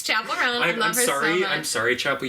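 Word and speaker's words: Chappell Roan: I said her name wrong. That's so funny. Yeah. I said Chappelle. Dave Chappelle Roan. It's Chapel Roan.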